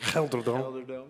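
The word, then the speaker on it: GelreDome: Gelderdome.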